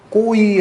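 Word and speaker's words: גוי: 못합니다 아시 필요도 없어요 꼬의 라고 발음 되는 단어가 있어요 이방이 그 복수형 은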